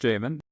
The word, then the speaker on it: Jamin: It's pronounced Jamin, as you said correctly.